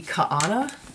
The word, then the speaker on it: Kaana: It's called the Kaana Shawlette. I'm thinking that's a Hawaiian word, and that's how you say it. Kaana Shawlette by Jennifer Weissman.